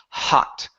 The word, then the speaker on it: hot: Instead of hot chocolate, it's hot, hot chocolate. Hot chocolate. Okay, make sure to pronounce that H. The H is not coming out. So it sounds like you're saying hot chocolate. It should be hot, hot chocolate.